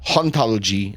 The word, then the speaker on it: hauntologie: In French, you would pronounce ontologie and hauntologie in the same way, dropping the H.